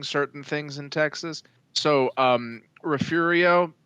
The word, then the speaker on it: Refugio: So, Refugio is actually Refugio. it is Refugio, but we added an R. It's Refugio because reasons.